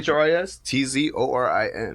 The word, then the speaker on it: Tzorin: And it's spelled Tzorin. If Yeah, you want to go check him out. The T silent. Chris, The T silent, huh? CHRIS TZORIN.